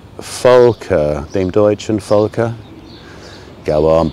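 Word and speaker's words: Volke: a guess dean deutschen with a v but it's pronounced as an f folker named deutschen folker go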